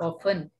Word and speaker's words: often: अच्छा with them poetry is ऑफ्टन ऑफन इसमें T silent रहता है ऑफन, इसको जो हम पढ़ते हैं ना.